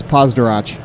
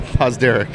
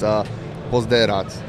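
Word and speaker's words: Pozderac: It's Pozdarach. No, that's not how you say that. Pozdarach? He. No, Pozderek. Pozderek. Oh. Pozderek? Man, I've been saying it wrong for 4 years now. Unless you're in Croatia, and then it's Pozderats.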